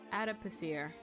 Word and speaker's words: adipocere: I butchered everything there, but how do you pronounce it? Adipocere? Hold on, let me... What? Adipocere? Adipocere? Adipocere. That's the phonetic standard. Adipocere.